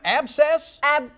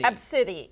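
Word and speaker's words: Abcde: Abscess? Absidy. Absidy. Absidy is how it's pronounced. It's spelled A-B-C-D-E.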